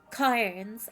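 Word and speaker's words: Cairns: Cars. I'm going to say cars. The eye is silent.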